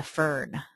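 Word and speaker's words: FRN: funding request number which you may hear described as a fern that's that's how you pronounce that acronym um each time when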